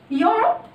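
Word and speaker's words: Europe: يوروب بادئة بالإي مش بنطقها، بنطق من أول اليو على طول يوروب.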